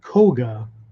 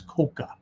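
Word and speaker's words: 甲賀: IGA and Koga and actually technically speaking it's Koka okay Koka the problem with the modern translation or the modern pronunciation of Koga right is because of the characters used to write it and modern Japanese say Koga for the one character but classically it's Koka right so what a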